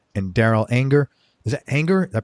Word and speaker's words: Anger: Martin Tony Trischka and Darrel anger is an anger that pronounced that right that's right okay and his